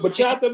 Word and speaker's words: bachata: You dance some bachata, man? You dance bachata? I can. Am I pronouncing it right? Bachata? Is that how you pronounce it? Yeah, yes, sir.